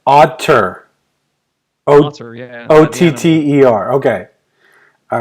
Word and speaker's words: Otter: Otter. Not Otto. How do you spell that? Like the animal. Like otter.